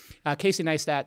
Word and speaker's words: Neistat: got it all right we're done everybody I pronounce his name correctly Casey nice that started vlogging on that platform and he is